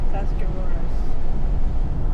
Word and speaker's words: Tuscarawas: How do you pronounce that river again? Tuscarawas.